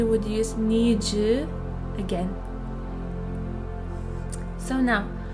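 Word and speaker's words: の: It's pronounced as no, no, and it shows that something belongs to someone.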